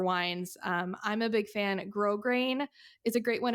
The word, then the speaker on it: Grosgrain: Grosgrain is a great one. It's spelled like gross grain, GROSGRAIN.